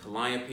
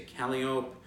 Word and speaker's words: Calliope: Clio you say climb instead of saying Calliope you say Calliope terpsichore is terpsichore or